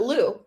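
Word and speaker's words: Lugh: know what I mean yeah l u g h l u g like q but Lou yeah oh fun times I know I was like throw a GH in there so Lou was originally the god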